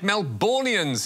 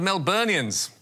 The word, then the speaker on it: Melburnians: Yes, Anthony Albanese said Melbournians instead of Melburnians.